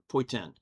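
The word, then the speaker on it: poitín: It's spelled Poitin, but they pronounce it in the Gaelic way, and it's like, I can't even pronounce that. Poitin.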